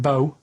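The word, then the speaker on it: B.O.: It's not pronounced bow and it's not spout bow. Um, who calls it bow? Everyone knows it's bo.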